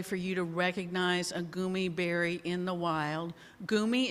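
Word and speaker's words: goumi: And I'm not sure I can give you enough information today for you to recognize a gumi berry in the wild. Gumi is spelled G-O-U-M-I.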